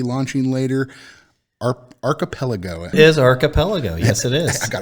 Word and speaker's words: Archipelago: It is Archipelago. Yes, it is. I got it right that time. Aside from my pronunciation of the name, so we got the